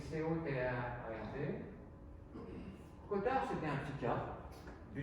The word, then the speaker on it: Cotard: Le syndrome de Cotard, ça s'écrit C-O-T-A-R-D.